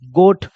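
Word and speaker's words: goat: ठीक है, चलिए वैसे ही है, अगर ओ के बाद ए आया तो जी को पढ़ेंगे ग, ओ के बाद ए है तो ओ लग मात्रा लग जाएगा, टी को पढ़ेंगे ट, गोट।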